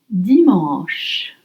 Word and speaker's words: dimanche: Et maintenant, dimanche. Dimanche. Sunday. Dimanche. Dimanche. It's spelled D-I-M-A-N-C-H-E.